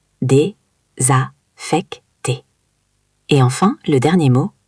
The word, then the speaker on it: désaffecté: Désaffecté, c'est un mot un peu difficile à prononcer. Oui, répète après moi. Dé-za-fec-té.